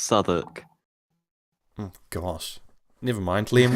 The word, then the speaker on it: Southwark: South and then W-A-R-K. You would think that was pronounced Southwark, but it's actually pronounced Southwark.